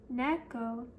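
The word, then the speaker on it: 猫: For example, in the word neco, ne has a higher pitch than co in the word enu.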